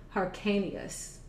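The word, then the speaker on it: Hyrcanus: not pronouncing it correctly but let me then spell it out for you okay h-y-r-c-a-n-u-s hercaneous he was made king in the room of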